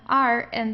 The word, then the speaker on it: Rand: So here, whenever you have an R and then you have a vowel right after that, you pronounce it from the throat. So here it's der Rand. So you feel it here vibrating.